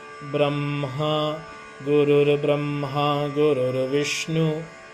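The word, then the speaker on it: ब्रह्म: Remember? M is first. Brahma, Gurur Brahma, Gurur Vishnu.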